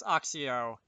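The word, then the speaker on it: Accio: Axio I'll see oh I'm pretty sure it's Axio with a the first C being hard but I've heard it pronounced both ways so I don't know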